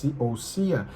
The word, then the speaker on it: ousia: Se escreve ousia com s, mas se pronuncia ouia, né?